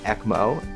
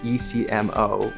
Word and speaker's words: ECMO: a portable heart lung machine that we call ecmo and that's spelled ecmo and it stands for extracorporeal meaning outside of